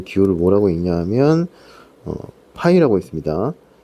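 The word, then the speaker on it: Π: 왼쪽에서 요 기호를 뭐라고 읽냐 하면 파이라고 있습니다. n 파이 r. 이 파이는 곱을 뜻하는 프로덕트의 p에 해당하는 그리스 문자로 파이라고 읽습니다.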